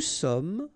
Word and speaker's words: sommes: Nous sommes, final S not pronounced.